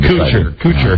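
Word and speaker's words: Couture: Chuck liel lidel and Randy cure coocher we coocher not cooch they uh that's why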